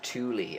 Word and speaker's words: Thule: So Thule is the German pronunciation. I think us over here, certainly Britain and America, probably I call it Thule, as you just did,